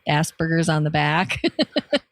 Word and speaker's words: Asperger: It's not even the like Asperger. Like, fine, anybody's going to mispronounce it.